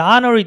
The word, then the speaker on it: honorary: 발음 안 되죠. 그래서 our 했을 때 아니까 모음이잖아요. 그래, honorary degree 했을 때 아잖아요.